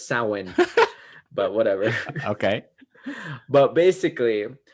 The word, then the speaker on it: Samhain: But so Halloween is based on a festival called Samhain. It's a Celtic festival. and it's not spelled the way it sounds, so it's really confusing.